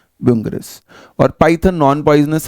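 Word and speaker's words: Bungarus: फिर है बैंगरस, हालांकि स्पेलिंग ठीक नहीं है बट एनसीईआरटी में यही लिखी हुई है। एक बुंगरस शब्द लिखना चाहिए था ना यहाँ पर, है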